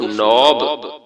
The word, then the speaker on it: knob: के साइलेंट रहेगा, एन नून की आवाज देगा, ओ वाव की आवाज देगा और बी बे की आवाज देगा। ये लफ्ज बन जाएगा नून व नौ बेमकूफ नौब।